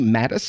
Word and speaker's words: Mattes: here with a very special guest uh Mattis am I pronouncing that last name correctly Y yes